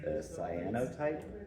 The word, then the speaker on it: cyanotype: One thing that I've never heard of before is cyanotype.